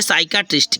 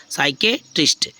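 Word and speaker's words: psychiatrist: है जैसे नेक्स्ट है साइकेट्रिस्ट क्या है साइकेट्रिस्ट तो यहां पर देखो पी क्या होगा साइलेंट हो गया साइको साइकेट्रिस्ट ठीक है साइकेट्रिस्ट ओके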